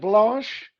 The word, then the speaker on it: Blanche: david this is called blash we'll get a little close up for you there is it spelled like b-l-u-s-h now it's spelt like uh blanche in a street car named desire that's b-l-a-n-c-h-e okay got